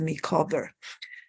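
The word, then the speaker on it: Micawber: doesn't have that apostrophe that's to tell you that you should pronounce it as a makeover and of course David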